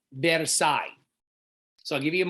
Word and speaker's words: Versailles: It's pronounced Versailles. The S is silent, Versailles.